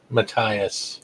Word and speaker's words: Matias: So, how do you pronounce it? Matias.